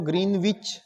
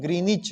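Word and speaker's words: Greenwich: का आप ध्यान रखेंगे जो ग्रीनविच जो शब्द होता है यह ग्रीनविच नहीं होता इसका सही प्रोनंसिएशन ग्रीनिच है ग्रीनिच ठीक है यह है इसका सही उच्चारण ग्रीनिच ग्रीनविच नहीं ग्रीनिच ठीक है ऐसे ही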